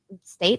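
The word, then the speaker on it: Staite: Jules State. State, that's how you pronounce that.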